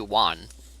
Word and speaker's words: Wan: Because it is supposed to be Wan. It's W-A-N, 1-2.